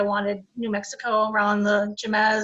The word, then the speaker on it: Jemez: New Mexico around the Jemez. Is that how you say it? Hemis. Hemis, okay. Yeah, the J sounds like an H.